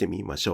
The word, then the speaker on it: クマ: As you can hear, there are two patterns: “kuma o” (high–low–low) and “kuma o” (low–high–low).